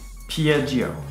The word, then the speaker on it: Piaggio: Piaggio.